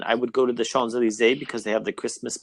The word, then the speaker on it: Champs-Élysées: And Like we don't pronounce the but- M, the P, and the S. So other than that, you're good. Yeah. Oh, really? Oh, Champs-Élysées.